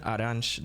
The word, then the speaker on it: Arantes: Pelé's real name, Edson Arantes do Nascimento, tweaking it to create Samus Aran. And though his name is pronounced Arantes, the pronunciation of Samus's surname is confirmed to be Aran.